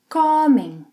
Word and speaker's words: comem: Vocês, eles, elas comem. With a nasal sound. Comem, comem. So recapping the three endings for ER verbs. Como, come, comem.